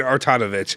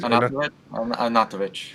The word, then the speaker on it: Arnautovic: So it's Arnautovic. I kept saying Artanovic. Now I know it's wait. How do you say it? Artanovic? Arnautovic.